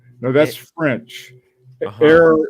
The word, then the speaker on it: heure: Air is the French for hour, and it's spelled Heure.